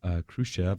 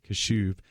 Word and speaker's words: Kashuv: Harvard has decided to rescind their acceptance offer, their acceptance to Kyle Khrushchev, I believe, how do you pronounce his last name? Kyle Kashuv, because of some racial remarks that he made 2 years ago.